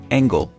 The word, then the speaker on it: angle: And angle, G-L-E, many other words ending in L-E, just make a l sound as an angle, angle.、而且比如说这个 Angela